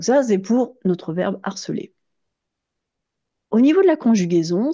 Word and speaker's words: harceler: enfin cette fois-ci phonétique, c'est que le verbe harceler ainsi que le nom harcèlement et l'autre nom, les noms, ah j'ai oublié le S à nom, je vais le rajouter, hein, ainsi que les noms harcèlement et harceleur ont un H qu'on appelle un H aspiré.